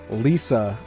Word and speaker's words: LISA: We're going to be covering Lisa for the next Indie Fireside.